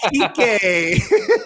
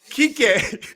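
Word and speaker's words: Kiké: Kik Hernandez cuz I feel like his first name, if you say it in an English pronunciation, is just designed to get you kicked off YouTube.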